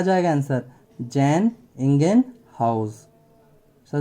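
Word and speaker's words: Jan Ingenhousz: लेकिन इसका अगर पूरा प्रोनाउंसिएशन करोगे तो जैन इंगेनहाउस।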